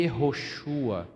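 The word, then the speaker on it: יהושע: a portuguesamos para Josué na verdade em hebraico se pronuncia e errochua que é o mesmo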